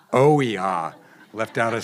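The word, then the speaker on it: OEHHA: And if I can say the acronym correctly, it's WHEHA. Oiha. Oiha. Left out a syllable there.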